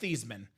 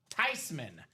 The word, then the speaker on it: Theismann: Because it's not pronounced Thiesman. It's not pronounced Theismann. It's pronounced Theismann. Joe Theismann.